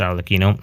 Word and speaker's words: Arlecchino: teased the Nave arino yes her name is pronounced arino another incident of the French n clature regardless